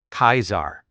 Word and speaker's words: Caesar: The name Caesar in classical Latin was pronounced closer to Kaisar than the modern English version.